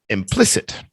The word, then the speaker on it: implicit: Implicit. Implicit. Yeah. Say it again, Bacon. Implicit. Implicit. Implicit. The stress is on plis. Implicit.